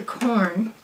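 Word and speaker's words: Quorn: you our boots I'm going to use the corn q r n it's how it's pronounced vegetarian chicken breast chicken cutlets they call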